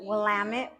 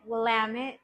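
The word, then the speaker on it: Willamette: uh in Oregon and the wamit wamit dam it that's how you know how to say it um and it's a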